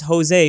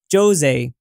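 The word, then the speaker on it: José: So everyone says Jose, but he's actually Jose. That's, I guess, how you're supposed to pronounce his name.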